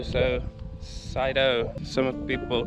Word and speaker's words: Sido: a lot of people pronounce it differently you spell it with the s-i-d-o so cyto some people call it uh sido so the